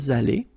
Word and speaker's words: allés: Nous sommes allés. You don't pronounce it.